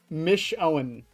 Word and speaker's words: Michonne: Is it Michanine? Michanine? Holy crap, Lois, it's Glitchtrap from Five Nights at Freddy's VR, help wanted by Steel Wool Studios. Holy crap, Lois! Michonne.